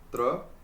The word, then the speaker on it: त्र: स, त्र, ज्ञ और श्र। अब ये स नहीं बोलेंगे। इसको कस बोलेंगे। कस। क्या बोलेंगे? कस। इसी तरीके से इसको तर बोलेंगे और ग और श्र।